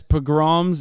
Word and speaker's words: pogroms: Not only are these governments refusing to meet their Yes, pogroms is the right way to say it.